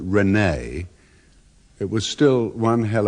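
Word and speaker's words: René: 17th century philosopher and even though the French pronounce it Renee it was still one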